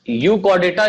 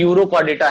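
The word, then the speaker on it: Urochordata: यूकॉर्डेटा नहीं बल्कि students क्या कर लीजिएगा, यूरोकॉर्डेटा, यूरोकॉर्डेटा, ये थोड़ा सा ध्यान रखिएगा, थोड़ा मिस्टेक हो गया है स्पेलिंग्स में। यूरोकॉर्डेटा है, इसको यूकॉर्डेटा बोल सकते हैं हम लोग, ठीक है, लेकिन एक्चुअल में ये यूरोकॉर्डेटा है।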